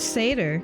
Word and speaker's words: seder: I got the audio too quiet oh it's seder seder oh I was close Sader think about saders for example Haley when you